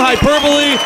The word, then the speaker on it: hyperbole: It's not hyperbole. I said it right, Mark. You should be happy. I didn't say hyperbole this time.